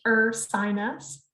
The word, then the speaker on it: Ursinus: screen share and so you're from ursinus pronounced er sinus i know it's a little bit of a weird name i hear a lot of different versions of it but we're a small